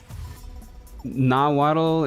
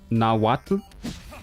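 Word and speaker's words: Nahuatl: Naddle is pronounced where the TL is a single sound like the TL in Atlantic. Atlant at Nawatu Nawatu like that H.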